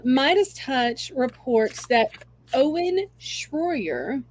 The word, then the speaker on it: Shroyer: Touch reports that Owen Shroyer my pronouncing s h r o y e r Shroyer yes uh he's an Infowars